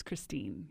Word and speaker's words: Christine: Ripa and CEO founder of Noah does that pronounce it right Christina yes and it's Christine Christine all right Christine welcome to the show